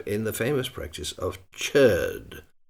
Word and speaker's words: chöd: the famous practice of chur. In an attempt to imitate the pronunciation, this word is often written with two dots over the o and umloud.